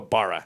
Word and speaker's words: Barra: hired away Hugo B Hugo bar I believe is how you say his name correctly from xiaoi and if